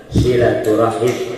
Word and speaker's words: silaturahmi: Awas nih, dan banyak yang keliru dalam pengucapannya. Itu tidak pakai tasdid, silat, bukan silat, bukan. Silat itu dari kata wasola yasilu silatan, nyambung maksudnya. Kalau sholat atau sila itu dari kata sholat, double L. Silaturahmi.